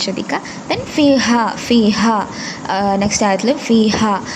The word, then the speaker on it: فيها: Then ഫീഹ next ആയത്തിൽ ഫീഹ അവിടെ ഹ എൻ്റെ ഉച്ചാരണം ശ്രദ്ധിക്കുക. ഹ എന്ന് തന്നെ പാരായണം ചെയ്യാൻ ശ്രദ്ധിക്കുക. ദെൻ കുതുബു ഖയ്യിമ അവിടെ ഇഖ്ഫ ആണ്.